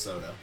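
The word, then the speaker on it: Souda: in jetta in the japanese version had spelled sou da but is still pronounced soda he also drinks a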